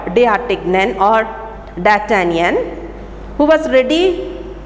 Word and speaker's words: D'Artagnan: You can pronounce it as D'Artagnan, or you can say it in the French language. D'Artagnan is pronounced as D'Artagnan.